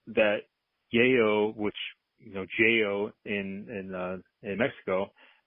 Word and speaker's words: Yeyo: in there they sell they say yo Joo so like the Y are a j and then we also learned that yo which you know Joo in in uh in